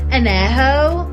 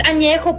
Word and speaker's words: añejo: Blanca, reposado, añejo. What the fuck is añejo? It's añejo, puñetas. Añejo. Read.